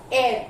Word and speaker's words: heir: How will you pronounce this word? This is air. H-E-I-R. Air.